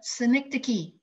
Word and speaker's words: synecdoche: How many have to break that word apart into syllables in order to say it? It's a cool word. It's a synecdoche.